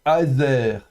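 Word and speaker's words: עֵזֶר: Ensuite, le mot suivant, vous avez le ein, donc muet, mais avec une petite prononciation de fond de gorge, avec un tiré, donc aez, suivi du zain avec un ségol, donc aezer, aezer, ça se prononcera comme ça.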